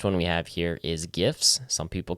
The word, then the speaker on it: GIF: It's GIFs for sure. Absolutely. It's GIFs. It's not. There's no J. Just stop. Okay. So GIFs. The word gems is spelled with a G. To be fair to both sides. And that's the J sound.